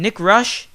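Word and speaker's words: Nick Roesch: have to do is just search the name Nick Rush in the bar that's spelled n i c k r o e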